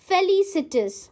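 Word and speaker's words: felicitous: Our next word is फेलिसिटिस। हाउ डू you pronounce it? We pronounce it एज फेलिसिटस। Okay?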